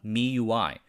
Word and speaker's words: MIUI: Il primo prodotto dell'azienda non fu un dispositivo, ma un'interfaccia Android personalizzata a basso livello chiamata MIUI, pronunciato "me-you-I".